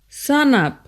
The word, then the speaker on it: sanap: For example, brother is pronounced Brata, enough, Inap, before, Bipo, shark, Sak, stand or stand up. Sanap, Words of English origin are also generally used differently than they are in English.